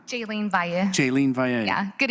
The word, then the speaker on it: Jaylene: Jolene Valley, or Val? Sorry for the mispronunciation. Did I get it right? No? Thank you. Jolene Valle. Jaylene Valle.